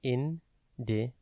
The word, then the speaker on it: indecisive: It is pronounced indecisive and spelt I-N-D-E-C-I-S-I-V-E. Think in, deck, like the start of December, is, and then if.